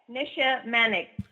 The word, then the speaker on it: Nisha Manek: I didn't butcher that hey he was perfect Nisha manic perfectly pronounced and so are where are you calling